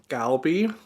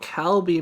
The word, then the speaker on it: 갈비: G's as K's hmm I used to say galbi but so many people corrected me on YouTube though like it's called kalbi Merrick not galbi hmm I think I've